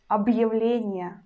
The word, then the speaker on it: объявление: And hard sign helps us, and we pronounce letter b as a hard sound b. So we pronounce объявление, объявление, объявление, б, in a hard way.